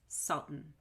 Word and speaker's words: salt and pepper: In salt and pepper, the word and is reduced to N, and that N becomes an unstressed syllable.